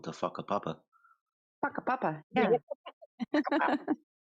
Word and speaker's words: whakapapa: I think he And shut us down when he said they were called the whakapapa. Whakapapa, yeah. And it'd be spelled with a PH.